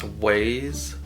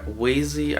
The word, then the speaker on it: Waze: I use both, and I even use Waze, or Wazy, I think it's pronounced Waze.